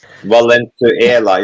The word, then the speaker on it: Valenzuela: Valenzuela. It's not Valencia. It's Valenzuela. Valenzuela.